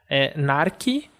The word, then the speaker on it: narki: Narki, que tem uma fechada, nar, e uma aberta, ki, vai ser narki, com a força na primeira sílaba, e significa gato.